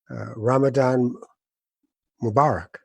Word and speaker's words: Ramadan Mubarak: So please, today, I guess the best thing to say is Ramadan Mubarak.